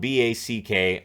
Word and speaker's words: Back: and then Beck so his name is spelled b-a-c-k a double check yeah it's back because I heard them pronounce it as back and I'm like really but Swedish so back Oscar back uh getting